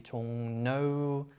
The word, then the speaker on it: 종로: For example, 종로 is like, because 리을, there's Korean letter 리을, and sometimes it's written as like R, but pronounced like N sometimes. 종로 can be 종노, it's a bit different.